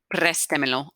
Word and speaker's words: préstemelo: up the pronouns rule, divide the verb into syllables, preste, Pres is your second to last syllable. We've only got one vowel in that syllable. Accent goes over the E. Préstemelo, lend it to me.